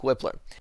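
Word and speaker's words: Wypler: we have Luke whippler I think it's pronounced whippler not weipler but I'm going to say Luke whippler sent her out of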